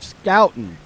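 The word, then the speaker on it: Schouten: be pronounced was incorrect so drop the h it's joseph scouten i can see it now that i was thankfully corrected so joseph scouten completing two passes completing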